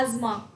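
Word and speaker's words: asthma: अ fourth disorder है एस्थमा। एज़मा, इसकी pronunciation है एज़मा।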